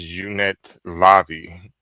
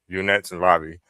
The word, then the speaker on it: unetlanvhi: This particular uh form of spirituality is pronounced unit lobby. Unet lobby.